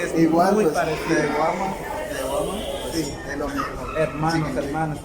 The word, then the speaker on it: Taiwama: Taiwama significa hermano. Ajá, nosotros en lengua materna náyari lo pronunciamos así tal cual como está escrito, como lo podrán ver en